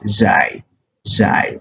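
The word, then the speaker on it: ز: the appropriate one is z z okay this is just the z sound in English language for instance if you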